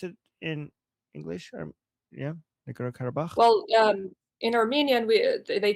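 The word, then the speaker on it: Nagorno-Karabakh: Is that how you pronounce it in English? Yeah, Nagorno Karabakh.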